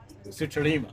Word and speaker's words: Sutarima: I keep pronouncing it wrong. Sutarima. Yep, Sutarima. Sutarima. I got it.